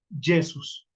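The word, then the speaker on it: Iesus: a encontrar la palabra con con i que es y se y se pronuncia yesus también cómo evolucionó la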